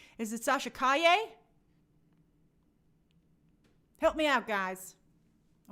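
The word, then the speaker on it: Sasha Calle: and i got it therefore wrong is it sasha kaye help me out guys i want to make sure i pronounce people's names correctly hi me oh jaime okay oh good i got it right so sasha kaye is going to be uh supergirl which i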